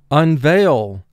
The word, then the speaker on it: unveil: Here, EI is representing the long A sound, so that's vowel group 6.